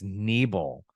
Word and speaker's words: Nebel: It's not Nubble, it's Nebel.